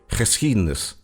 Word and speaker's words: geschiedenis: It can get really tricky as a foreigner, for example, if you need to pronounce a G together with a CH sound, such as in the Dutch word geschiedenis, meaning history.